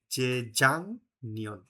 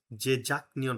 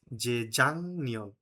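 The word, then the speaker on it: 재작년: প্রোনান্সিয়েশনে ওখানে বলা ছিল ভাচিম গিয়কের পরে মূল বর্ণ নিয়ন অথবা মিয়ন থাকলে ভাচিম গয়কের উচ্চারণ অনিষ্কারের মত হয়ে যাবে অনিষ্কার লাইক যে জাং নিয়ন জেজাক নিয়ন হবে না হবে যে জাং নিয়ন এখন আপনি যদি বলেন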